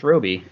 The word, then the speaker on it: Robe: says robe yeah it says ro but it's pronounced Robi otherwise the stroii doesn't make any sense I'll